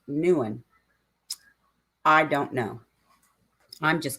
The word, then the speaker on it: Nguyen: very well too um you hear it pronounced as kevin nugent everywhere but she pointed out she's pretty sure it's pronounced nuan i don't know i'm